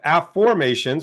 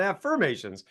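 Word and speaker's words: AFFormations: well my book of AFF formations which you can see right here is that's my book from Hay House it's called AFF formations not affirmations so an AFF formation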